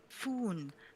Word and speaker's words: Phone: Yeah, we've been saying it wrong all the time, but then we can't have the phone puns if we're going to say foon.